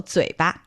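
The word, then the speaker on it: 嘴巴: Okay, so 嘴, that's the third tone. Yeah. And 巴 there is the light tone. So 嘴巴.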